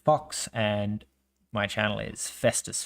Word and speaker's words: Phox: It's just like in English ph makes the f sound. So phox is pronounced fox and my channel is festus fox.